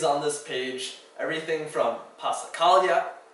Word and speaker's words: passacaglia: All of these on this page, everything from passacaglia, tricky because it has a double consonant at the S and then a silent G before the L.